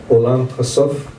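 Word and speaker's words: עולם הסוף: I know that the title in Hebrew, forgive me for my pronunciation, Olam Hasov.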